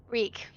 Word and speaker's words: Reek: and her friend um weak speak greek uh reek taking care of lance a lot now they promised to take care of him rhymes with weak uh where where can